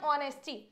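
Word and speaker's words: honest: हैं अ ऑनेस्ट person नहीं आप बोलोगे तो एच तो साइलेंट है ना साउंड तो आपको ओ का आ रहा है और ओ हमारा वर्बल साउंड है तो हम क्या लगाते हैं एन ऑनेस्ट समझ रहे हो तो हमें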